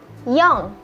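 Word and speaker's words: よん: 4, yong.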